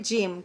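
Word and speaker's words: gem: और ये है, इसको हम गेम नहीं पढ़ेंगे, गेम की स्पेलिंग अलग होती है। ये है जेम। क्या है ये? जेम पढ़ेंगे इसको हम, जेम। और गेम जो होता है वो होता है GAME, गेम।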